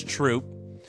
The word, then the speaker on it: Troupe: First off, the E is silent, so it's troop.